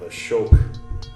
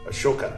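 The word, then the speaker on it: Ashoka: go ahead and bring in the pillar of a shoke a shoka excuse me that I painted when you when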